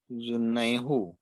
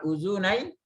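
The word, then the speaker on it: أذنيه: Orang Arab susah bacanya. Uzunaihu susah. Tapi dibaca apa? Uzunaihi. Nah, hu-nya jadi hi.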